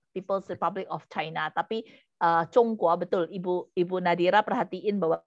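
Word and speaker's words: 中国: Tulisnya sama, cuman Sama. lafal yang beda ya. Betul. Kalau bahasa daerah itu tapi tulisannya tetap sama, cuma bunyinya jadi Zhongguo, tapi bahasa Hokkian itu Tiongkok.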